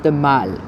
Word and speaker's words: The Mall: And straight ahead, it is the Mall. The Mall, not to be pronounced the mall, it's the Mall. Although sometimes people say the mall anyway.